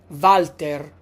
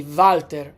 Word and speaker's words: Valter: And uh we pronounce words that begin with a w as if they began with the letter v. For example, the name Valter. We say Valter in Italian.